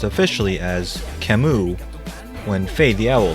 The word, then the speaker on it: Camus: Many players were surprised to hear that the name of the character is pronounced officially as Camus, when Faye the Owl said it during a Faye channel video.